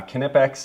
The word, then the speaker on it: Knipex: in my videos probably this is the uh knipex and yes that's how you pronounce it I've looked a lot I've been